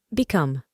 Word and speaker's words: become: Para aprender a pronunciarlo correctamente, observamos que la E del final no se pronuncia y la O tiene un sonido más abierto, similar a una A en español, become.